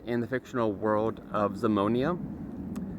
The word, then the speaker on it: Zamonia: uh it's set in the fictional World of zamonia Z O M um you know z m